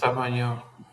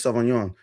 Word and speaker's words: Sauvignon: Miss Um, Savagnon. it's Miss Sauvignon.